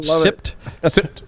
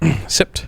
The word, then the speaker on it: SIPT: sans iot pwnage toolkit pronounced sipped sipped sip yup uh so you get